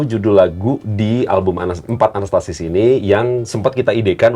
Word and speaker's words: Anastasis: Kembali ke album baru itu judulnya ee anastesis. Anastasis. Anastasis.